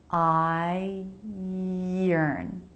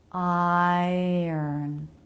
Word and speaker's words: iron: It might help you connect these two syllables if you think of a Y sound being in between them. Iron. Iron. Iron. So separate what the word looks like based on the letters from the pronunciation. If you focus on how the word looks, it will probably mess up how you say it.